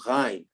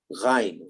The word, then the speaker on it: ghain: That's an Arabic letter called ghain. We don't have that in English. It's called gha, ghain, ghusl.